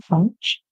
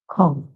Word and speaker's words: conch: glowing of conch shells, or you can say that's the British pronunciation, conch, and the American pronunciation, conch.